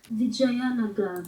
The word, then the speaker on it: Vijayanagara: Vijayana, Vijayanaagara. What's that pronounced? Vijayanagara.